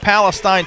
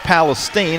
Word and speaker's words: Palestine: Q wear zero a 510 junior from it looks like Palestine, Texas, but it's pronounced Palestine.